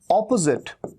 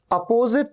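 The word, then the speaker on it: opposite: ये है ऑपोजिट, ऑपोजिट, जिट। यहां पर भी एस का साउंड ज का साउंड है, ऑपोजिट, अपोजिट नहीं, ऑपोजिट, अपोजिट नहीं, अ नहीं, ओ।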